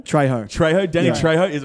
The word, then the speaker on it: Trejo: Officially, Danny Trejo, the Mexican bloke who was Danny in- Trejo.